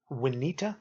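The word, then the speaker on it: Uinta: in salt lake called Juanita I believe that's how you say it uin ta we need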